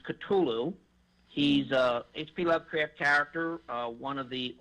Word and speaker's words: Cthulhu: and I explained to her I said it's pronounced Cthulhu he's a HP Lovecraft character one of the